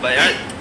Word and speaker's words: بیعت: عربی لفظ ہے بیعت، صحیح تلفظ اس کا کیا ہے؟ بیعت، با یا عین تا، یہ بیعن سے ہے۔ بیع عربی میں کہتے